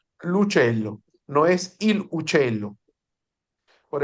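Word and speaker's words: l'uccello: Lucello. Un celo Se pegado. pronuncia corrido. El apóstrofe no existe en la pronunciación. Lucello, no es il uccello.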